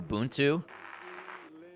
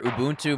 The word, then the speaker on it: Ubuntu: every time you hear Ubuntu mentioned on the news which isn't often the second syllable is said like the English word bunt buntu you bunt too yeah I've never I